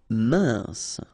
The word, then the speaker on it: mince: Mince, final E not pronounced, E-N together, un, mince.